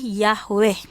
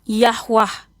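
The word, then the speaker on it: Yahweh: Pelafalannya pronouns-nya adalah Yahwe. Ada yang pelafalannya Yahwah. Yahwah itu adalah berdasarkan lidah.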